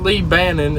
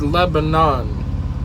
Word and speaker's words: Lebanon: it that irks me it's not lee bannon it's lebanon that's how it's pronounced i don't know i